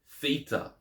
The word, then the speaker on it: theta: in this and that Theta has the th sound as in Throne or thin Theta so Zeta EA